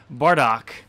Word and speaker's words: Bordeaux: cross um in skull bardock i'm sorry bardock yeah it's bordeaux scarlot bordeaux wow oh you got that wrong and no it is pronounced bardo come on no it's